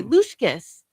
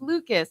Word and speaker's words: Lucas: And she would pronounce my brother's friend's name Lucas. She would say Lushkis. And he's like, Lori, it's Lucas.